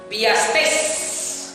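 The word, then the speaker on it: biastes: Y aquí se usa la palabra griega piastes, con acento en la E. Piastes, la palabra griega.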